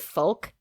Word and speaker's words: folk: by the fact that she pronounced the L and folk that I I couldn't